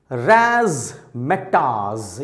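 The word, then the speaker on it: razzmatazz: जरा इस वर्ड को प्रोनाउंस करने की, उच्चारण करने की कोशिश करिए। रैज़मेटाज़, यस, रैज़मेटाज़।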